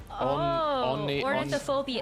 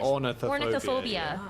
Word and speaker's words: ornithophobia: I don't think he could pronounce anything more than 2 syllables. So it's an impossible. Wait, what feat. is? Ornithophobia. Ornithophobia.